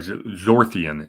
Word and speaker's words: Zorthian: so berries are uh I'm sorry zorthian is how you pronounce it Bor uh Skull and